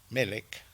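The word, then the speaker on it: מֶלֶךְ: y quiero contarles que melek tiene dos Está compuesto por dos palabras una que es melek melek si tal cual suena con k final Qué quiere decir Rey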